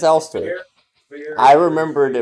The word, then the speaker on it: Elster: It is spelled that way, so some might think it is pronounced Lester, which confused me briefly, very briefly. But it is Elster.